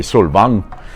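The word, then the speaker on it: Solvang: that I bought in svang California I want to say sang because that's the right way to say it it's it's a excuse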